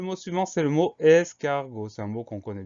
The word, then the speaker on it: escargot: Et attention, à la fin, on a une lettre muette, on a le T. Donc on pense à mettre ce T.